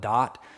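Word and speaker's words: Daat: They in Kabbalah, for example, because I already mentioned it, they call it dot, D-A-A-T, I think they pronounce it.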